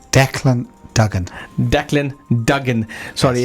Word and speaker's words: Dean Dugen: the name again sorry Dean how do you pronounce your name Dean Dugen Dean Dugen sorry it's it's a tongue twister